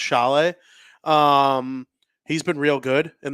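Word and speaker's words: Šalé: Well, that's kind of just like the way Czechs pronounce things.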